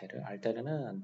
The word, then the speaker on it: alter: 철자가 살짝 이렇게 바뀌었고 그래서 이 경우에는 alter, alter 얘는 알테르라고 이거는 이제 라틴어에서 나온 말이야. 알테르는 둘이 있을 경우에 둘 중에서 그 나머지를 말하게 돼.